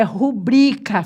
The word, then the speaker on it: rubrica: Rubrica. É rubrica, sílaba tônica é o bri.